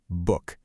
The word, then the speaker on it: book: Now notice it's spelled with two O's, but when you say it, those two letters make only one sound, that sound. So we've got the sounds b, oo, k. Put it together and the transcription is book.